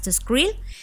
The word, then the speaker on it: TESCREAL: sus siglas en inglés yo me voy a referir como tescal para que entendamos las letras pero pues su pronunciación de acuerdo a lo que ellos sugieren es scrill y bueno Qué significa